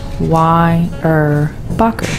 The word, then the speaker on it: Weyerbacher: So, for the German novices out there, Weyerbacher is phonetically pronounced Weyerbacher, as simple as it sounds.